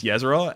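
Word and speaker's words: Ysera: of range of me killing it easily with yzer and also I know it's pronounced Yer don't worry um and also did damage to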